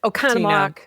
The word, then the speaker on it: Oconomowoc: Can I just say, for regional dialectical purposes, that it looks like there are way more syllables in that name than you are saying out loud. Yes. Oconomowoc, here on the lake.